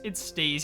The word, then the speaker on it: Steez: And today, we are going to have Steez. Oh man, it's so close to being Steve, but it's not, and I find that very unsettling.